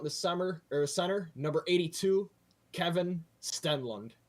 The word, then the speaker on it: Stenlund: And rounding it out in the center, number 82, Kevin Stenlund. I believe that's how you pronounce that as well. Stenlund? Yeah, Stenlund, yes.